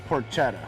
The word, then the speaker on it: porchetta: Thanks for joining us here behind American River Ace Hardware to do just a simple version of a porchetta.